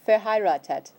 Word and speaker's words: verheiratet: This one breaks down into a couple different tips for pronunciation. Fair, Fair. high, Nein. raw, Raw. and that one's easy, tet. Tet. Okay, so try it all together. Verheiratet. It's the word for married.